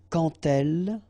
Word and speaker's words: quand elle: So like that, quand elle, all right, same rule here. Remember, when you will have this D, you will phonetically pronounce it like T.